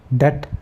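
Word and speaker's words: debt: silent हो जाता है डेट अब टी से पहले बी आया तो साकिन हो गया साकेत हो गया चुप हो गया इसकी कोई आवाज नहीं है इस तरीके से डाउट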